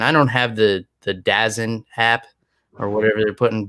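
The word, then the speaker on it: DAZN: don't have the the dazzin app or whatever they're putting bellator on so i'm gonna have to find another way to watch this but it's pronounced what pronounced days it's pronounced don't download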